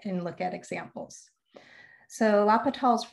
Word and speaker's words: L'Hopital: look at examples so lapital's rule first of all i think of this as hospital but it's without that s in there before the p that helped me remind me of how to say his name and also